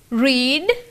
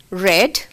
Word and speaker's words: read: Read. Read. Remember, children, the same spellings but different pronunciation when it comes to past participle form. Read becomes read.